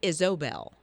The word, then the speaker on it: Isobel: well it is but you've got to make sure you say the O instead of an A so Isobel okay but it that's